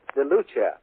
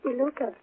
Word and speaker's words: DeLuca: Is that pronounced right? DeLuca. DeLuca. That's right. I thought two C's were...